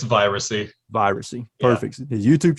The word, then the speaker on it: Viracy: What's the proper way to pronounce that? It's Viracy.